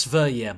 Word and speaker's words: Sverige: So it's pronounced Sverige, my bad, thank you.